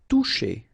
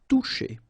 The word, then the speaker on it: toucher: Toucher. Okay, remember you combine this O and U, you get the sound OU, and then C and H, sh. Toucher.